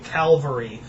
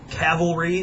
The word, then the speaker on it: cavalry: And do not ever say cavalry to any military historian that you ever encounter in school or that you know, don't say that cuz that pisses them off. If you can pronounce it cavalry, they'll love you instantly. It doesn't matter if you know anything else. They will love you if you can pronounce that word correctly.